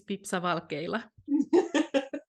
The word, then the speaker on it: Pipsa Valkeila: your last name yeah my name is pepsavalkayla the same as it's it is spelled so not that hard